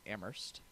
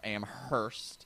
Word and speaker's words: Amherst: then I'll go to Amherst or Amherst if you're uh weird Amherst you don't pronounce the Hearst it's like too many words immersed a minute Amherst